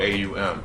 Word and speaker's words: Aum: It's spelled A-U-M. The A represents physical reality. The U, Ao, represents the deep sleep state, right? And then when you close it, Aum, right?